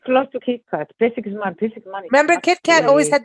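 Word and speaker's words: Pesek Zman: I don't know how to pronounce this, Ruth. Pesach Zman is my love. Pesach Zman.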